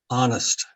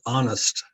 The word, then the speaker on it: honest: That's what we say is honest. So we pronounce it honest. Honest without the H.